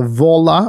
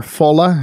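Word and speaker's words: Volla: It's actually called the Vola or Fola. If it's a German company, I guess you pronounce it Fola Phone X.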